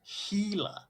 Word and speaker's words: Gila: sir what well how how do you pronounce gila then wingnut gila rather than either way you're also it's a healer i i always like